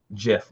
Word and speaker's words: GIF: make this a little jiff almost or gif depending how you like to pronounce it we're gonna upload this